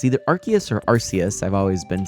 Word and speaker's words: Arceus: Hamabi Boy says, however you say it, Arceus, one of the most hotly debated pronunciations. There you go. I'm going to say Arceus. It sounds cooler to me. There you go. That's my defense for Arceus.